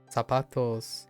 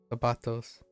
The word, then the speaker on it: zapatos: Although you may already know this, but C and Z in Spanish is pronounced as a the. Zapatos.